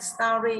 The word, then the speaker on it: story: Story y dài trọng âm dương tiết nào Sơn Tùng? Story y dài trọng âm dương tiết nào? Rơi vào store.